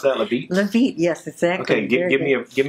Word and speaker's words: Levite: Is that how you pronounce that, Levite? Levite, yes, exactly.